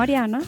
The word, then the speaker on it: Arianna: llegué aquí me llamo ariana se escribe con doble n pero no se pronuncia esto siempre he tenido